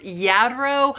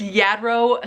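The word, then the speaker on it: Lladró: I'm pretty sure that the manufacturer of this is pronounced Yadro, but feel free to correct me in the comments if I'm wrong about that.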